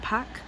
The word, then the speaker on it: Park: to be Kim Lee spelled Park pronounced pack and spell Choi pronounced